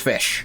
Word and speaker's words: Ghoti: not fish no it's fish spelled g h o TI Follow My Lead ow ow Jesus that guy's got a heavy ass weapon name is fish which is pronounced fish correct Cabella RI and